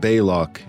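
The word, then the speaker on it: Balok: Fun fact, his name is pronounced several different ways in the episode, but Belloc is the preferred pronunciation.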